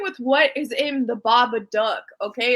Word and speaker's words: Babadook: go who's announcing his name oh my God babadook yeah yeah there you said it right that